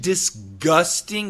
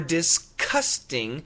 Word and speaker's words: disgusting: with a G or disgusting with a K that's a great question Tina and the answer is both we really do say both I've heard disgusting from the G sound oh it's so disgusting